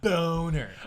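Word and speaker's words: Bohner: Ralph Boner. I couldn't think of his first name. I just remembered Boner. Ralph. But so She pronounced Bonner.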